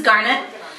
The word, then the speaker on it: Garnet: All right, so this is Garnet, and it rhymes with darn it.